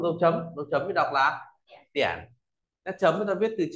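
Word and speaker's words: 点: rồi, rồi chính xác, tiễn nét chấm thì đọc là tiễn.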